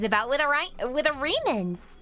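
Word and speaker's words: Riemann: What is there to hypothesize about with a with a reman? Ryman. Reman. Reman. Sorry, that does say Reman. I forgot how German pronunciation works for a second.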